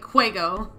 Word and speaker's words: Huego: I love how we all say it like a cough. Like, Huego.